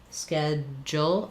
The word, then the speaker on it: schedule: American English schedule, we say The eh vowel, like in red, schedule, and this du makes the j sound, schedule, jul.